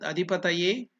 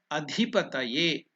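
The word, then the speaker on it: अधिपतये: Om, Om, Ete, Ete, Gandha Pushpe, Gandha Pushpe, Etad Adipataye, Etad Adhipataye. Dhi is Mahaprana. Etad Adhipataye.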